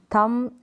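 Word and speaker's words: thumb: silent है pronunciation में थंब और दम तो यहां पर इन सारे स्पेलिंग में एम के बाद भी है और बी साइलेंट है अगला रूल देखें अगर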